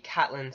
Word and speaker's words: Catelyn: The next name I chose is Lady Catelyn Stark. I like Catelyn way better than Caitlyn.